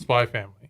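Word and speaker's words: Spy × Family: is pronounced Hunter x Hunter, and it's pronounced Spy Family.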